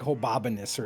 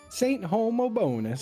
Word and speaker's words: Homobonus: I was like, "Well, it's got to be pronounced like hobbonus or something like it can't be pronounced. Homobinous." But we put it in like a pronunciation thing. And and I'll never forget the little robot sang back Saint Homobonus.